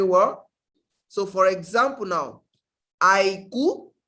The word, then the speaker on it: àìkú: But before we go into that, I want us to get the pronunciation very well. So for example now, àìkú, say it.